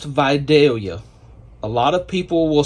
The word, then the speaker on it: Vidalia: That is pronounced Vidalia. A lot of people will say Vidalia, but in the South, in Georgia, we say Vidalia.